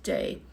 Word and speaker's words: Dé: Dé there, God, is just like day in English, like D-A-Y, and le cúna, silent ending. Now in Munster, you hear that ending, they say le cúnamh, like a V sound, le cúnamh dé. In Ulster, they actually say it like a U, le cúnú dé, and the day is more like a J sound, le cúna J.